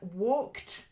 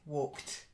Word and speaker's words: walked: that's it good then walked silent E walked walked okay at the end walked walked that's better good then murdered